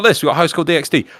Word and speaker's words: DxD: We've got High School DxD. Like, oh, look, she's just a school kid. Why is she so important? You don't pronounce the X.